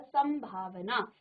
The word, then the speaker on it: संभावना: म अनुस्वार हुआ है इसलिए यहां सन पढ़ेंगे और यहां सम पढ़ेंगे ठीक है ये है